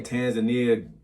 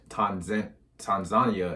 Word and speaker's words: Tanzania: I always say it wrong. When I say Tanzania, like the captions always transferred into some Tunisia or something. So Tanzania is how the locals say it.